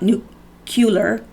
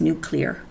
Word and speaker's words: nuclear: agent to the nuclear-nuclear it's not nucular how i was pronouncing it before so forgive me because there was several people that told me that i was pronouncing it wrong it's Nuclear Regulatory Commission on on